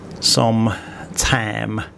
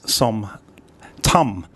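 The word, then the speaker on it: ส้มตำ: But whenever I go down to Malaysia, I see signs saying som tam. And as you would have heard with Pom's pronunciation just then, it's som tum.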